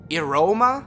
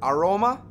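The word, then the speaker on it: Irohma: when they're speaking it, it's called, I believe, Iroma or Aroma, I-R-O-H-M-A or A-R-O-H-M-A.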